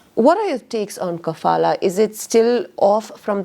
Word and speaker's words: kafala: attention to the the cfala system did I say it right cfala kafala yes kafala now kafala is a